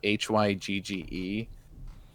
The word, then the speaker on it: Hygge: It's spelled Hygge. It's Hygge.